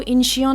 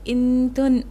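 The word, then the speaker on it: Incheon: इसको इंशियन नहीं बोलते हैं, इसको इंटन क्या बोलते हैं भाई साहब? रुको, उसका प्रोनाउंसिएशन कुछ ऐसा होता है, INTUHN, इंटन बोलते हैं।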